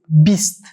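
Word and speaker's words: bîst: Try to pronounce like as I pronounce, try to imitate my sound actually. Deh, as we've seen, deh. 20 is beast, beast.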